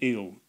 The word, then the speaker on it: Ils: film uh in French it's called eel eel as ILS and uh they quite